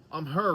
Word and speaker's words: AMHEH: I've done a couple of backpacks, but a company called um her reached out. Now, it's spelled A M H E H, but it's